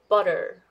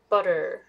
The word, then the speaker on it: butter: wider than sh the the vowel here is much longer than sh sound so please listen to uh make sure that the um you know the length of the vow so this one is longer batter batter and this one is shorter butter butter okay so how is